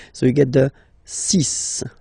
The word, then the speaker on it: six: And be careful here, because even if it's ending with this X, well, you'll have to pronounce it like S, okay? So you get the six pronunciation.